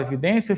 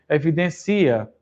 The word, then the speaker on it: evidência: O acento da palavra evidência existe porque, se você não acentuar evidência, fica evidencia. Se você não acentuar silêncio, fica silencio, e por aí vai. Então, o acento de evidência é porque é uma palavra paroxítono terminada de tom crescente.